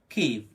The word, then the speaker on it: Kyiv: The proper pronunciation would be Kyiv. So try it once again. Kyiv, Kyiv, Kyiv. Kyiv is the only correct option to say the name of Ukraine's capital.